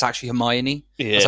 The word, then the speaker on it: Hermione: And also I heard that people didn't know how to pronounce Hermione's name when they read the books, because it's spelled like Hermonge or something.